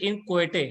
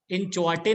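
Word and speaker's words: inchoate: ये है इसका लिखा हुआ इन क्वेटे, इसको यूज प्रोनाउंस इन क्वेटे है ना, इन चौटे नहीं है, CH नहीं पढ़ना इसको, मतलब चा का इसको नहीं दिया CH में, यहाँ पे इन क्वेटे है, ठीक है ना, तो H is silent, इन क्वेटे इज the pronunciation, तो this is एन इन क्वेटे instrument.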